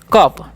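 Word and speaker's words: cup: है उसी तरीके से सीयूपी है तो इसे कु नहीं क्या पढ़ेंगे कप ठीक है टे ट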